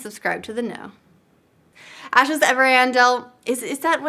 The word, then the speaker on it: Ariandel: Ashes Ariandel, is that how it's pronounced? Someone's gonna kill me. Ariandel, yeah.